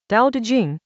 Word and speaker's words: Dao De Jing: Dao De Jing — pronounced "dow duh jing" — Chapter Thirty.